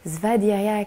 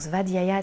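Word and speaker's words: svādhyāya: allons pratiquer c'est-à-dire ce n'est pas une posture vaderia qui signifie la connaissance de soi et la connaissance des textes anciens donc VAD Yaya s'écrit SVA DH y a y a et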